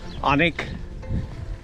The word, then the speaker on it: Alnwick: on the previous video the w is not pronounced that's what i'll learn right now so it's onick and burke burke so that's where we're going for us to annik and i'm back we're